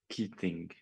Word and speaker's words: Keating: Keating. Keating? Herra Keating, palun. You're exactly right. The E is there to confuse people, but not to be pronounced.